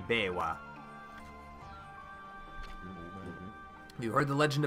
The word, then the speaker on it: Biwa: I'm not pronouncing that right, it should be Biwa.